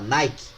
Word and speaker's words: Nike: Em grego, Nica se escreve Nike, e Nike os americanos americanizaram, norte-americanizaram para Nike, certo?